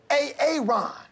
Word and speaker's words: Aaron: Now, A-A-Ron, where are you? Where is A-A-Ron right now? No A-A-Ron, huh? Well, you better be sick, dead, or mute, A-A-Ron.